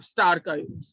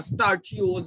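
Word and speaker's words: stachyose: और दूसरा मैंने बताया कि स्टार का यूज, स्टार या स्टार्चियोज या स्टार का यूज दोनों तरह से प्रोनाउंस करते हैं।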